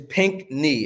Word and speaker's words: Pinchney: say the last thing is pink knee as if your knee was pink oh pink knee that's